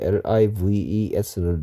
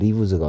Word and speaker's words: lives: life의 복수형일 때 LIVES는 leaves가 아니고 lives라고 얘기했습니다. I의 발음이 E가 아니고 I 발음 내야 되겠죠. lives.